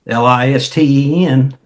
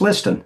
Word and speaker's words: Listen: Is spelled L I S T E N. Looks like Listen, pronounced Liston.